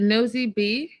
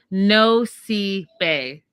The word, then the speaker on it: Nosy Be: Oh, is it Nosy B? No. Okay, I wrote it down phonetically. No bay. No bay. I got it right.